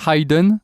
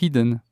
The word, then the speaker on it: hidden: bien HDE par contre le participe passé hidden il y a de d donc en fait le i n'y a pas de diftong c'est pas hidden c'est hidden parce que il y